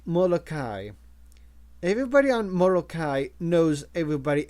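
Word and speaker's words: Moloka'i: Watanabe noticed that he pronounced the name of the island in the old way, Molokai, with a glottal stop.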